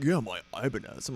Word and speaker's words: Ibanez: Since the other guitars aren't quite doing it for me right now, I'm making another Ibanez, and we'll come back to those other ones later.